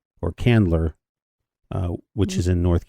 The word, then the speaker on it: Candler: It's like hand or land, but it's it's spelled c a n d. So, it's Candler or Candler uh which is in North Carolina.